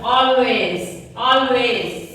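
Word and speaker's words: always: ఇక్కడ మనం కూడా దాదాపు నేను కూడా అలాగే అంటూ ఉంటాను, ఆల్వేస్ అంటాను, కానీ ఇట్స్ రాంగ్. ఆల్వేస్ ఎల్ అనేది పలకొద్దు, సైలెంట్. ఎలా పలకాలి? ఆల్వేస్.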